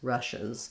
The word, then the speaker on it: Russia's: It's almost like no vowel there at all. It's actually very similar to rushes, like she rushes from place to place. Rushes is going to have a clear I sound. Russia's is going to be more of an sound, more of a schwa.